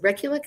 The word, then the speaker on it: Rekulick: Is it Rekulick?